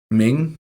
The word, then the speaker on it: Meng: Ming? Meng? Meng? I say Meng. M-E-N-G. I'm more like Meng. Meng. Yeah, Meng. Meng.